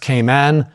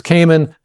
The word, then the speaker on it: Cayman: Although if you want to impress anybody in the industry, it's actually pronounced Cayman down there, but no one ever says it. Everyone says Cayman.